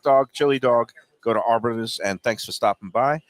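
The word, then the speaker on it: Arbetter's: I got my Arbiters, or is it how is it pronounced? Arbetter or Arbiters? Arbetters. Arbetters.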